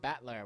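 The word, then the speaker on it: Battler: characters for the fight and person and it's pronounced batler well that makes sense but alog together you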